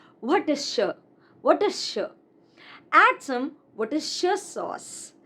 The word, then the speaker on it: Worcestershire: This is not Worcestershire, but Worcestershire.